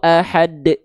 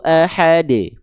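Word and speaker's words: أحد: mau dia qalqalah akbar, enggak ada yang dibaca ada hamzah sukunnya di ujung ya. Misalnya ee surah al-Ikhlas kan ujung ayatnya itu semua qalqalah kubra ya. Nah, berarti tapi enggak dibaca gini ya. Qul huwallahu ahad. Bahkan qalqalah kubra enggak ada hubungannya. Mm. Ya, gitu ya. Lempar aja tapi lebih kuat.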